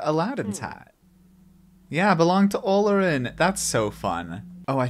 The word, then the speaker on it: Olorin: Spell it out for me. O-L-O-R-I-N.